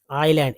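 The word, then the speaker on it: island: thing king of द आइलैंड silent है यहां पर एस जो है साइलेंट लेटर है इसलिए नहीं आइलैंड नहीं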